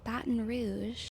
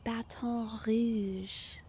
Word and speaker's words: Baton Rouge: but YouTube AI is letting me know that Baton Rouge is in fact the incorrect pronunciation, and this comment is right. This comment is right. Um apparently it is properly pronounced Baton Rouge, Louisiana.